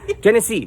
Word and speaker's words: Gennessee: But we're here to see 511 Gennessee.